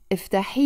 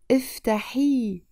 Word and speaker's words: افتحي: افتحي الباب. افتحي with the E sound in the end.